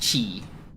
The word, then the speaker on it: qi: It's pronounced chi.